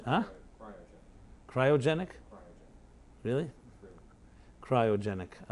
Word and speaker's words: cryogenic: with them to a Cyro how do you pronounce the cyanogenic freezing cyrone ah cryogenic really cryogenic I like to cry sounds interesting